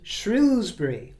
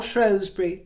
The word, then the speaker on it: Shrewsbury: am in the crowd in shrewbury or shury depending on how you pronounce it we come to